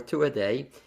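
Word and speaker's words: Tuatha Dé: um but the actual so it's spelled t-u-a-t-h-a-d-e-a gaelic uh and so we've taken the liberty of saying it to wasa dia or two a day is a family first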